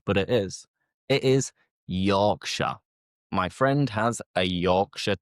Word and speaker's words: Yorkshire: The majority of which ending in Shia, you know, like the Lord of the Rings, the Hobbits, they are from the Shire, but we don't pronounce it like Shia.